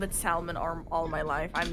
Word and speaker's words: Salmon Arm: has for some reason the english added the l but it's still pronounced like salmon so i don't know i've called it salmon arm all my life i'm